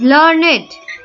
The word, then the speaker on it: learned: But a learned Pandit came to the court. Here, learned is a describing word. We pronounce it as learned to rhyme with created and waited.